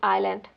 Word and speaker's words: island: Colonel is pronounced as carel witness they pronounce as like Wednesday and Iceland doesn't pronounce the s at all is island in depth had silent